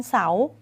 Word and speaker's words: เสาร์: เฉย ๆ นะ คะ ต่อ มา วัน เสาร์ ไม่ ออก เสียง รอ เรือ รอ เรือ เป็น ตัว การันต์ ค่ะ อารมณ์ ไม่ ออก